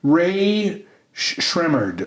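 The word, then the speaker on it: Rae Sremmurd: And then Ray Shremmerd. I had to look at the pronunciation guide this time so I didn't screw it back. Ear and drummer spelled backwards.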